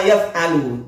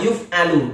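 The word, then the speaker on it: يُفعل: Wa minal bidahil makruhati ma yaf'alu. Dia membaca yaf'alu. Oke, sudahlah, enggak apa-apa. Tapi kalau saya membaca ma yuf'alu dijadikan majhul karena dikerjakan nanti bacanya. Dia menterjemah dikerjakan, seharusnya ma yuf'alu bukan ma yaf'alu ya.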